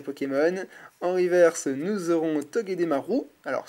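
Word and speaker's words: Togedemaru: en reverse nous aurons tog Marou alors certains diront Maru moi je dis Marou parce que le U se prononce ou en japonais si je dis pas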